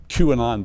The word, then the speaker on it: QAnon: Is that how you pronounce it? QAnon, yeah.